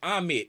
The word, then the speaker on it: Ahmed: name, cause he said if you playing tag with somebody and they come up and tag you, who's it? And I said Ahmed. He said that's how you say my name.